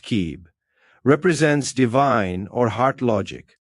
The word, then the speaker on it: Cib: It's gly called yellow cab pronounced kib represents divine or heart logic.